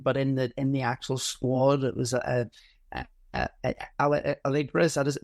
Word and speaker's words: Allegri: Yes, he wasn't attacking, but in the actual squad, it was Allegri. Is that his name? How do you say the manager? Allegri, yeah.